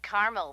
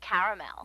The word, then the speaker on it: caramel: Actually, you said caramel when it's pronounced caramel.